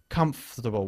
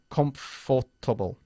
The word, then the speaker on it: comfortable: Comfortable. We don't say comfortable. Yeah, comfortable. Omitimos la OR cuando lo decimos.